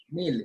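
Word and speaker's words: mille: mil. E at the end is silent.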